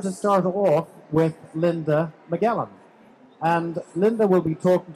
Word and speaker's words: Magellan: So please give a warm welcome for Linda Magellan. Thank you. Thank you, Morris. It's actually pronounced Magellan. Magellan.